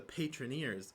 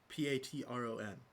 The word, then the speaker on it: Patreon: Grant, if you're gonna say it's the Patroneers, don't put another E in there. You could just say Patron. Like the word patron. That's how it would be pronounced phonetically.